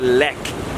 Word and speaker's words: Lech: I said it wrong. It's not the neck. This is the Le L E C H.